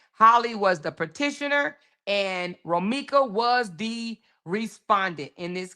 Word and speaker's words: Romeca: It's Romeca.